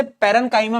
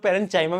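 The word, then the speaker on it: parenchyma: पेरन काइमा, मैं इसको पेरन काइमा बोलता हूं, बहुत सारे लोग पेरन चाइमा भी बोलते हैं, तो ठीक है भाई, कौन सा प्रोनाउंसिएशन सही है वो किसी को नहीं मालूम, बट ठीक है, तुम पैरेनकाइमा बोल सकते हो क्योंकि तुम्हारा मास्टर पैरेनकाइमा बोल रहा है।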